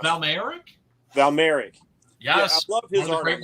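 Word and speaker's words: Mayerik: I don't remember how his last name is pronounced. Valmeric. Val Merrick.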